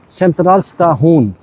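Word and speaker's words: Centralstation: लेकिन इसका जो इसका प्रोनाउंसिएशन जो इसमें स्वीडिश में होगा, सेंट्रल स्टाहून, यानी टी को पढ़ते हैं तो जैसे ते तहती, सॉफ्ट, बहुत सॉफ्ट उर्दू वाले उस तरह। तो सेंट्रल, आर को थोड़ा ट्रिल करते हैं र करके, सेंट्रल स्ताहून।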